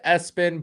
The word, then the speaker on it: ESPN: His middle name is Espen, spelled ESPN, pronounced Espen, but truthfully, it represents ESPN.